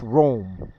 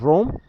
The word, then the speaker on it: Rhoam: because it's if it's if the h is silent it's uh that it's